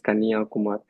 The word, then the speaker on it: Kanyakumari: So the pronunciation is Kanyakumar.